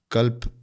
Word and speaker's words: कल्प: एक कल्प कहते हैं अंग्रेजी में स्पेलिंग अगर आप लिखना चाहे के ए एल पी ताकि सुनने में करेक्ट हो कल्प लोग गलत उच्चारण ना करें कल्प यह कल्प एक